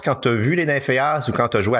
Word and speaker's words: Nymphéas: Est-ce qu'il faut éviter de prononcer le S à la fin? Les Nymphéas, ouais. On dit pas les Nymphéas.